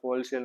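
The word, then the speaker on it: wholesale: Sorry ये नाम होलसेल, इससे हमें डब्ल्यू क्या रहता है, साइलेंट रहता है, होलसेल नाम है।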